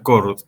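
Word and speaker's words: Chord: Donde por ahí el más conocido, el que más se popularizó es el primero que aparece en esta lista, que se pronuncia Cord, ¿no?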